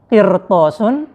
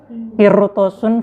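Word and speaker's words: قِرْطَاسٌ: Lafat qirtosun, firqotun, sama mirsodun. Kalau nggak salah ya. Insya Allah. Bismillah. Nah, semisal ro-nya setelah huruf ro itu dibaca terdapat huruf isti'la, maka ro-nya itu dibaca tafkhim.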